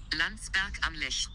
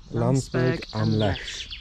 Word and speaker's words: Landsberg am Lech: Wendy's got the pronunciation. Landsberg am Lech. Landsberg am Lech.